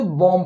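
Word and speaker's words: bomb: इसलिए यहां पर क्या इसको हम लोग साइलेंट कर देंगे बम पढ़ेंगे यहां पर देखिए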